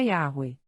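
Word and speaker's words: Yahweh: dos estudiosos pensa que a pronúncia original do tetragrama bíblico era yahwe entre eles a incerteza sobre a vocalização como yo ou yahwe Mas esta é a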